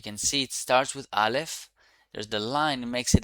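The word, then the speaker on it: אָלֶף: Aleph. Aleph is a silent letter, basically.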